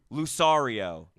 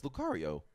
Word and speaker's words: Lucario: Lucario. No, it's Lucario. Lucario. Oh, I'm doing the Italian version. Yeah. Lucario. Lucario. That's Lucario. It's pronounced.